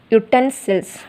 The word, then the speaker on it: utensils: Next, utensils. Here U also a vowel sound, but we have to pronounce utensils. Okay, you, okay.